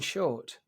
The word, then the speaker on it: Shortt: The impeccably named, and tell me if I get this wrong, Shortt. That is correct. That's correct. I just wasn't sure if I was pronouncing your surname correctly because it's spelled rather magnificently with 2 T's.